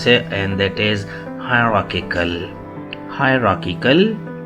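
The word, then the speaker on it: hierarchical: pronouns and that is हायरार्किकल हायरार्किकल इस आर को बेशक साइलेंट कर लीजिए हायरार्किकल हायरार्किकल अमेरिकन प्रोनंसिएशन है हायरार्किकल हायरार्किकल हायरार्किकल British pronunciation है हायरार्किकल हायरार्किकल हरकिकल हरार्किकल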